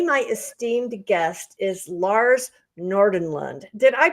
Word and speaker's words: Nordenlund: Now, today, my esteemed guest is Lars Nordenlund. Did I pronounce that right, Yeah, Lars?